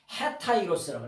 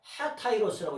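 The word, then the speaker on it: ἑταῖρος: 이게 요게 없으면은 에타이로스라고 읽는데 요게 있으면은 뭐냐 하타이로스라고 읽어요.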